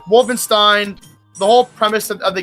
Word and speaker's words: Wolfenstein: Wolfenstein or as they pronounced in German, Vulvin Wolfenstein.